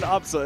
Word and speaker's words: Absa: It's funny because her name is pronounced Absa anyways.